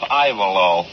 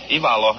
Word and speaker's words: Ivalo: The American way would be pronounced Ivalo. But Ivalo. Ivalo is the correct pronunciation.